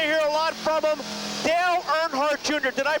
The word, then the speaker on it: Dale Earnhardt Jr.: Dale Earnhardt Jr. Did I pronounce that right?